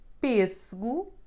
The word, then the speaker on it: pêssego: E sounding like E is a nasal sound, and it's somehow the sound between pin and pen in English. It happens when you have a circumflex accent in the corresponding syllable. In words like três, pêssego, or Portuguese.